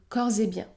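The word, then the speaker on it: corps et biens: bien cors et bien dans ces deux derniers cas le S se prononce Z Z cors et bien si vous souhaitez continuer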